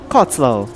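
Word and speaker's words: Cottesloe: It's a long syllable instead of a short syllable. Cotslow.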